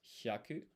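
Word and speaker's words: 百: So it's pronounced hyaku.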